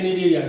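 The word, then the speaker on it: Cnidaria: area need area okay need area see how to pronounce see properly needed here see silent okay then again after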